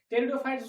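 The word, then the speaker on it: pteridophytes: टेरिडोफाइट्स को हम पढ़ते हैं, पी लिखते हैं, पे के लिए साइलेंट रहता है।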